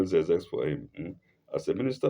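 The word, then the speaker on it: Xerxes: Esther 3:1 as a minister of of as a minister of uh aus of a into brackets zix zex please let me spell zex for him as a minister of aos and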